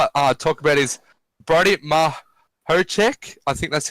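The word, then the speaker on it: Mihocek: Yeah, and another one I'll talk about is Brody Mahocek. I think that's how you say it. Mahocek, thank you, Flood.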